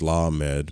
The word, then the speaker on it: lamed: The Hebrew letter lamed, pronounced lamed, means ox goad, so that it suggests the idea of control, prodding the ox.